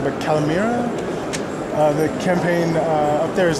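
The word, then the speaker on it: καλημέρα: I see, and we see pictures of, I'm going to pronounce this wrong, but Kalimera? The campaign up there, is that... Oh, Kalimera.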